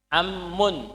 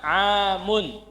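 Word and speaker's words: عَمٌّ: dari Ibu apa kholun dalam mengucapkan jangan salah ammun bukan amun kalau bacanya amamun artinya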